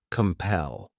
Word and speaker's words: compel: This word has 2 syllables, and the stress is on that second syllable, compel.